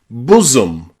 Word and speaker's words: bosom: Okay, the seventh way that we can pronounce O in English is O. O. Like in the word woman. Wo. O. Woman. Or bosom. Bosom.